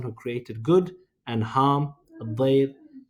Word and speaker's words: الضير: الضير rhymes with khair, but it also just means darar, harm.